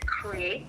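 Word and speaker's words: Cre8: Where I incorporate other artists is with a company that I named Create, and it's spelled as CRE with a number 8.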